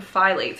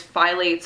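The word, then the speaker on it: phthalates: were saying they're called I call them file eights and that's how I've heard it pronounced but whatever doesn't matter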